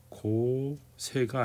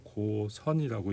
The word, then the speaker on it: 고선: 그 다음에 요거는 고세가 아니고 고선이라고 읽는 거예요.